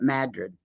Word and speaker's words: Madrid: Only the locals call it Madrid.